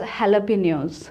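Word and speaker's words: jalapeños: Actually, this word is not pronounced as it is written. So you will not pronounce it as jalapeno. You will pronounce it as jalapenos.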